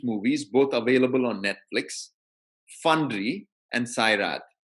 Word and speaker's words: Fandry: For those of you who are interested, I recommend two excellent movies, both available on Netflix, Fundry and Sairat. Fundry is spelled Fandry, and Sairat is spelled Sairat, which do an excellent job of portraying the reality of caste in India today.